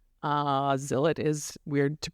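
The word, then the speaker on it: Zilot: so this book by Bob Odenkirk is called zilet z i l o t and other important Rhymes uh Zill it is weird to pronounce but and you can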